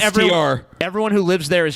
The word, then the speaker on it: Worcester: It's not pronounced Worcester. You should take a Yeah, it's not cyanide Worcester. pill. It's Worcester. Actually, Yeah, better it's blow your Worcester. brains out so we can be listen, sure. It's Worcester, dude. It's Worcester, dude. That's how it's fucking Or written. because some That's how it's arsenic pronounced. trioxide. You want it to be How about Worcester? that? Spell it Just because WOOSTR.